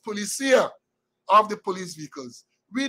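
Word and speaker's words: Policía: And now we say Policia, but my Spanish-speaking friend said the word is pronounced Policia, of the police vehicles.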